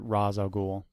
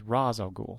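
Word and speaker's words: Ra's al Ghul: when I first started reading comics I always pronounced it Raz aoul and then I heard or read an interview with Denny O'Neal Who said it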